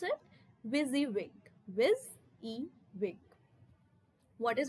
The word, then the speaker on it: WYSIWYG: How do we pronounce it? WYSIWYG.